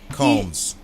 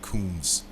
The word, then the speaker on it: Combs: bad boy records with sean combs combs not coons combs okay well i